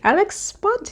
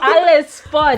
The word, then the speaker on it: Ale's Spot: You like Alex Spot? No, Alice. Oh, Alice Spot.